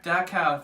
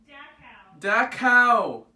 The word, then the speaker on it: Dachau: making a video do you know how to pronounce that one concentration camp that spelled das know da CH a you Dachau thank you thanks guys wait I forgot to say it Oh speak this language Dachau